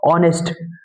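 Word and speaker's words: honest: ऑनेस्ट। एच मत देखो। सिर्फ एच आपका क्या है? कंसोनेंट है। लेकिन हम जब बोल्ड है तो क्या निकल रहा है? ऑनेस्ट। एच साइलेंट है।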